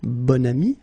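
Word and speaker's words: bon ami: got this adjective okay and then you pronounce it bonami when you make this link second example un bam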